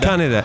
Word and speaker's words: Kaneda: Yeah, it's Kaneda. Kaneda, accent on the first syllable.